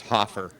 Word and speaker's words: Hofer: It's spelled Hofer, but it's pronounced Hoffer.